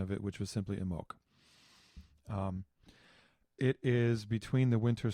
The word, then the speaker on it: Imbolc: years ago about it, and I liked their pronunciation of it, which was simply Imbolc.